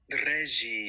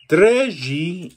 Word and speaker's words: Dreji: Dreji azantis ixan. Dreji azantis ixan. Nice. All you'd missed was the accents. Dreji azantis ixan means I really am a knight. Treji means really.